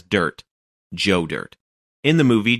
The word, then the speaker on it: Dirt: mopar community have embraced you may pronounce his name as dierte but most of us know him as dirt joe dirt in the